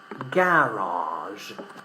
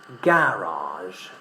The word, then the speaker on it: garage: In British English we pronounce the word with the stress in the first syllable.